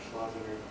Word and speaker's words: Schlesinger: Vice Chairman Leonard Schlesinger, I don't know how to pronounce his last name, what is it? Schlesinger.